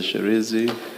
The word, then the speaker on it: Shirindzi: Sherenzi. Thank you. Can you please say it again so that we get it right? Sherenzi? Sherenzi. Sherenzi, Chairperson. Sherenzi. She, yes. She, Renzi. She, Re, and then Nzi.